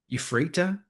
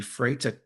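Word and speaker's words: Ephrata: I uh you I'm see if I can get this right. Euphrata? I think it's how they say it. It's called the Euphrata uh cluster.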